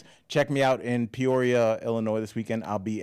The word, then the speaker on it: Peoria: check me out in Peoria, Illinois this weekend. I'll be at the Jukebox, 2 shows on Saturday in Peoria, Illinois, and the Riverside Casino Friday in Iowa. Amazing. Could you say Peoria again?